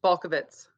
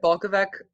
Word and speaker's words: Balkovec: ways well funny story i actually said my name wrong for 31 years until i just went to slovenia um last year with my sisters and we actually met some of our family in slovenia and they were like you're saying our name wrong and i was like